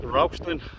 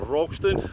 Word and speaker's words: Ralston: This is Ralston or Rogston, whatever way you want to call it. You can call it both.